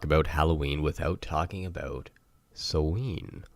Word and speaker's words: Samhain: Halloween without talking about so lean or as it's spelt Samhain now a lot of people don't know exactly how to say it it is an old gaelic word so there's a lot of different ways to say it depending on the part of the dialect that is being spoken at the time